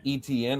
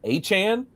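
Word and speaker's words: Etienne: ETN is not pronounced ETN? Apparently, he has said his name is Travis Achan. Supposed to say it like Devon Achan.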